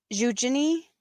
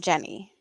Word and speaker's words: Eugenie: Like, I have never heard her name being pronounced as Jenny, but I have heard a couple of different ones. I think the more common pronunciation, I don't know if it's like a Swedish one or like, but it's Eugenie more than Jenny.